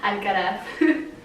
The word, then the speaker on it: Alcaraz: Okay, she goes by Letty, but her name is Leticia, and you gotta pronounce her last name. Alcaraz.